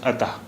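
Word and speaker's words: अतः: This is A, this is Ta, and these two dots represent Ah. Ata. So it's pronounced as Ata.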